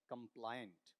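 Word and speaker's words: compliant: इसका उच्चारण क्या आता है? कै, ऐ, मै, पै, लै, आई न और ट कंप्लायंट।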